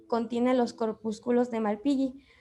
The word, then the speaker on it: Malpighi: ¿Así se pronuncia? ¿Malpillo o Malpilli? Malpillo. Malpilli. Ok, bueno, a la cápsula de Malpighi.